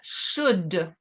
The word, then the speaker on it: should: to be looking at should once again we don't pronounce the L in should so I should affirmative